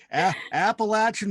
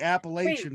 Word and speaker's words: Appalachian: You have to pronounce it right. Appalachian Mountains is what it is, but we call it the Appalachian Mountains.